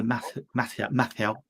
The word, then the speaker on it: Matthau: Is that Al Pacino, Walter Matthau?